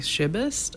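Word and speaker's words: Szybist: a few poems by Mary she bust I believe is how you say her name it spelled s zy bist is a last name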